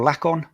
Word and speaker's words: Laken: Is it Laken or Laken?